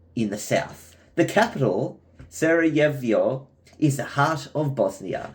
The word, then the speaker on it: Sarajevo: Sarajevo. It's pronounced Sarajevo. It's the capital of Bosnia.